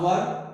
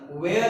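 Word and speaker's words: were: है एम आर, वाज वर, been, being, is, जिसमें से आपको याद क्या रखना है कि WER की प्रोनाउंसिएशन वेयर है ना कि वर है।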